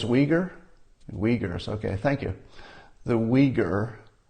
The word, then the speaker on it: Uyghur: Uyghurs, okay, thank you.